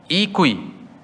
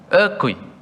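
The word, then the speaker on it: 餓鬼: In Chinese, it's called that Ikui. Is it correct, my pronunciation? It's Ikui, right? Ekui. Oh, Ekui.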